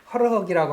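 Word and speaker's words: хорхог: 허럭이라고 하는데 이거 이게 나와야죠. 예, 예. 예, KH 발음입니다.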